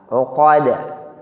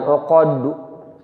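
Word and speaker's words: عُقَد: Uqad. Bukan uqaddu. Uqaddu kalau itu terlalu tebal, jadi bunyinya seperti mau ke dhammah.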